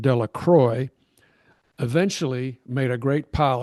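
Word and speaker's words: Delacroix: The villagers pronounced this name Delacroy eventually made a great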